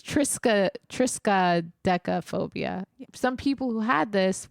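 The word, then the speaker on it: triskaidekaphobia: the most famous people actually had this fear Tria I'm saying it wrong no not Tria it's Trisa Trisa DEA phobia some people who had this was uh included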